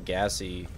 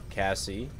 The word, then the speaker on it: Cassie: that would be cool I hate how you're pronouncing gassy Cassie yeah sorry I'll stay with